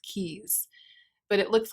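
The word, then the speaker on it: Tkees: keys keys silent t i'm guessing it's a silent t i bet it's pronounced keys but it looks like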